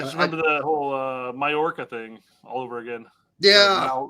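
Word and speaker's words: Mallorca: Because it's not Malorca, it's Mayorca. Yes, you're right. The double L thing always gets me in Spanish.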